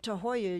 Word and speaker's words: Tahuaya: and arrows and fishing and hiking and Camp too Hoya you have probably seen the sign on I35